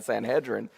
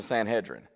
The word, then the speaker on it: Sanhedrin: time and then i started saying sanhedrin and um and then i found out i could do it either way so sometimes i just waffle between them because i've pronounced it both ways but there's you know